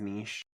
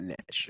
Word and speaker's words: niche: That's how it's pronounced, right? The word is niche. Yeah, that's what I say. Okay, so it's not niche.